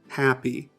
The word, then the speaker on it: happy: Happy. Now listen to this. Happy. Happy. Happy. The first way of saying it, happy, that is correct because the first syllable should be stressed.